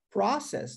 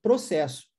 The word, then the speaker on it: process: sobre isso, é que se você der ênfase à primeira sílaba e disser process, nós estamos falando de processo. Mas se eu trocar a entonação e der ênfase agora na última sílaba, no ses, e disser process, agora eu estou falando o verbo processar.